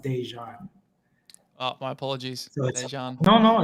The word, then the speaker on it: Déjan: pronounce my name so my middle name is pronounced dejan oh my apologies no no it's okay heiress dejan but i like that's